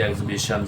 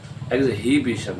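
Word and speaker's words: exhibition: है कभी वेपन की एग्जिबिशन है नुमाइश कभी कपड़े की भी होती है तो ये एग्जिबिशन है एही बिशन नहीं होता इसमें भी एड साइलेंट है इस तरह एग्जॉस्ट थका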